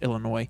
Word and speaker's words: Illinois: right Ohio and Illinois for you people who actually want to pronounce the S it's Illinois it's Illinois they're actually drafting up